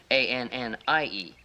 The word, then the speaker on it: Annie: See, look, if you want to make this Annie, then we have to put right here, between there, an I. See? A-N-N-I-E. See, now the I is silent. Now that's Annie.